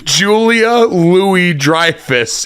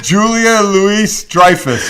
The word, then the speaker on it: Julia Louis-Dreyfus: it is it is Julia Louis-Dreyfus yes no you don't pronounce the s you don't no it's like Illinois yeah yeah have you